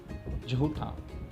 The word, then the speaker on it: झूठा: सही शब्द जो है वो ये है, झूठा, झूठा। यहाँ पर जो ये झ है और इधर ज, तो इन दोनों की प्रोनाउंसिएशन में बहुत अंतर है, इन दोनों के उच्चारण में बहुत अंतर है। इसे हम कहते हैं झ जिसमें ताकत लगती है, और ये है ज